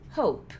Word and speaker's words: hope: Esse cara aqui vai ser hope. Porque não tem o E, a gente vai fazer a pronúncia curta.